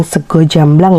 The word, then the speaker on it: sega jamblang: jamblang dalam bahasa Indonesia Sega jamblang atau dalam bahasa Jawa kita membacanya dengan sego jamblang ya adalah makanan khas